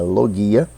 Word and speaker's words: logia: logo ia ou logia no grego se pronuncia lo guia e quer dizer estudo